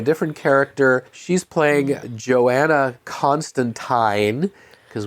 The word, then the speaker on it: Constantine: She's playing Joanna Constantine, because we've all been saying it wrong, apparently. It's not Constantine, even though Warner Brothers' own projects say it that way.